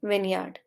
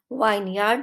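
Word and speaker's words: vineyard: of land planted with grapes इसे कहते हैं विनयार्ड वाइन यार्ड मत पढ़िए का विनियर्ड अंगूर का बगीचा मूव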